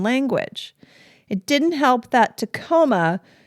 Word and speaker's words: Tacoma: it didn't help that Tacoma conveniently rhymes with Aroma yeah that's an unfortunate